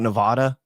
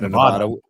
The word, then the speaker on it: Nevada: Again, I talk about the origin of the word. It's a Spanish-derived word, and there is no sound in Spanish.